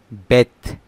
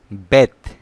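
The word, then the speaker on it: بيت: বেত। বেত খেয়াল করেন, বেত এর শব্দ, এটি বাংলা অর্থ বাড়ি বা ঘর।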